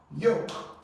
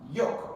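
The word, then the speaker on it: yolk: here you have y yoke remember your silent consant yoke L is not pronounced here so here you have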